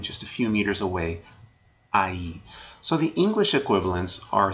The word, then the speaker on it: ahí: All right, let's take a look at ahí. Remember, the H is silent, of course.